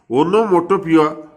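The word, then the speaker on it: onomatopoeia: ओनोमोटोपिया ध्वनिकरण, उसका pronounce देख लो, ओनोमोटोपियो, okay.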